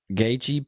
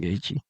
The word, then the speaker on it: Gaethje: The J is silent. It's like yogging. Remember that on Anchorman? I like to go yogging. Yogging. It's like jogging, but with a soft J.